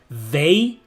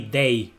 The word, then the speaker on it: they: Like instead of saying they, we say they. They, like day, like daylight, like day.